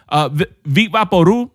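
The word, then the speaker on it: Vicks VapoRub: Vicks Vapor Rub, Vic Vaporu, that's how you pronounce it. If you pronounce the B at the end, you're wrong.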